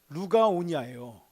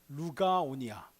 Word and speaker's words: 루가오니아: 말은 루가오니아예요. 루가오니아. 그렇죠? 그렇죠. 근데 그거를 이렇게 하면 잘 됩니다. 누가 오냐? 이렇게.